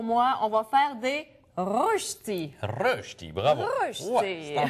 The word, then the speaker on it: Rösti: allemand parce qu'aujourd'hui ouis c'est un cours de prononciation pour moi on va faire des reti reti bravo ouais c'est en plein ça ça